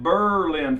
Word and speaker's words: Berlin: update the move well I'm in Berlin New Hampshire they pronounce it Berlin for a good reason my fifth Camp it